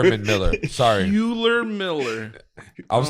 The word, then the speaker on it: Herman Miller: A Hewler Miller chairs? Am I saying it right? A Herman Miller chairs? That sounds better. Yeah, I don't know if probably that's Herman. right, but that sounds I think it's better. Herman Miller.